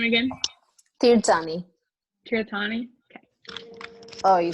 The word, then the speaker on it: Tirthani: me too say your last name again tommy kiratani okay oh you said it better yes great